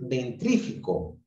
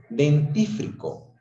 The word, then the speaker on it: dentífrico: Es incorrecto decir dentrífico, cuando lo correcto es decir dentífrico.